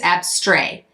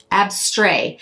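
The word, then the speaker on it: Abstrait: abstract depending on how I think it's ABS stray because that's how it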